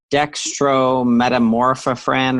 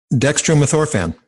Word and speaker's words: Dextromethorphan: It's pronounced like dextrometamorphophran or something like that. I can't say it. Dextromethorphan.